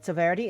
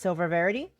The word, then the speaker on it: Verity: I've apparently been mispronouncing the whole time because I'm dyslexic. Thought it's Silverity. It's Verity.